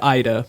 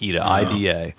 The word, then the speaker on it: Ida: It looks like IDA, but it's really It's pronounced IDA.